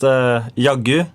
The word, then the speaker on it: Jaggu: from it's a a Norwegian slang so it's pronounced yagu and it mean it